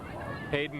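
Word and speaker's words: Haidon: Interesting, his last name is spelled H-A-I-D-O-N as he's now to his feet. Not H-A-D-E-N, though it is pronounced the same as Pat Hayden, the former Rams quarterback, now a broadcaster with NBC.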